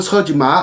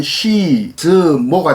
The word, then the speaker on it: 서지마: 서지마를 중국 발음으로 표기하면 시즈모가 되고 임휘인은 린후이인이 됩니다. 그런데 이 두 사람은 신중국, 그러니까 사회주의 중국 이전의 사람이기 때문에 1949년 이전의 사람이기 때문에 그냥 한자음으로 발음하는 것이 바람직하다고 생각됩니다. 그래서 지금부터는 서지마, 임휘인 한자음 발음대로 하도록 하겠습니다.